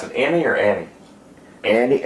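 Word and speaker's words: Enny: Annie, I always E-N-N-Y, but it sounds like Annie to me.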